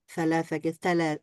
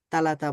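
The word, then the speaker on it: ثلاثة: অনেক ক্ষেত্রে আরবিয়ানরা সালাসাকে সালাস বললে তারা যেভাবে বলে মনে হয় যে তালাতা বলছে। আসলে খুব নরম করে সাকে উচ্চারণ করেন, সালাসা অথবা সাসুসি।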